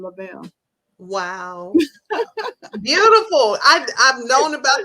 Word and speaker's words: Lavelle: Because a lot of people say Bella Love, they mispronounce it. But it's my dad's first name, Lavelle.